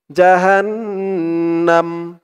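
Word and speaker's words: جهنم: জাহান্নাম, এখানে থামলে উচ্চারণ করতে হবে জাহান্নাম। আর না থামলে জাহান্নামা ওয়ামিং পরের শব্দ ধরতে হবে।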